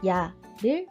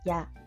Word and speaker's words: や: 발음은 우리말의 야, 유, 요와 거의 같습니다. 발음을 할 때 입술을 너무 내밀지 않도록 주의해 주세요. 첫 번째 글자 야를 배워보겠습니다.